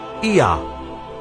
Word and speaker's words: Ea: And the third god was called Ea, which is pronounced Ea, and it became Yah, and Yah became Yahweh.